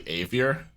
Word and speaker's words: Xavier: I actually just don't pronounce it at all. It's actually Avier. Avier, yeah. Avier. It's I'm sorry, I Avier can't. pronounce my X's, but I just did it there.